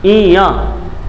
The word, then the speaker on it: ञ: इसका उच्चारण है इया, यही बोलते हैं इसे।